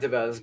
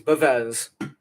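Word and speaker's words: Bevis: You and Soraya, I hope I pronounced her last name right, Devez, or Bevez, not Devez, Bevez. Soraya Bevez, aka Paige.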